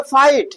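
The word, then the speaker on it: fight: फाइट। क्या है? फाइट। तो यहां पर जी एच को कहां गायब कर दे रहे हैं?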